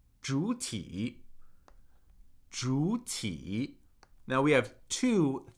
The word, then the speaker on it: 主体: For example, this word, 主体, if I had to pronounce both third tones completely, I would have to say 主体, which is more work than 主体, right? Because as the third tone falls, it then rises.